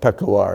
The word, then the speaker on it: Peshawar: And I mispronounced Peshawar. It's called Peshawar in that dialect in the mountain there.